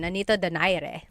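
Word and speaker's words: Nonito Donaire: So, our first poll here is going to be Mani Pacquiao versus Nonito Daire or is in in the Tagalog uh pronunciation. Nonito Dire.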